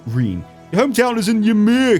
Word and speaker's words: Ymir: Your hometown is in Ymir, correct? Sorry, Ymir. That's how I pronounce it.